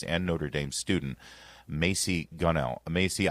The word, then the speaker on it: Gunnell: Mary's and Notre Dame student Macy Gunnell. Macy, I hope I'm pronouncing your last name right. Is that correct? Ganell, yes, you got it right, sir.